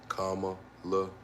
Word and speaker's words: Kamala: How am I supposed to pronounce it? Kamala.